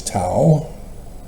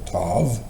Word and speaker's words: tav: If you know it as tao or tav, that's only because of